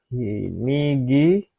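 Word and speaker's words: 右: Nomor 4 ini juga sudah tadi, yaitu ini bacanya migi, artinya kanan.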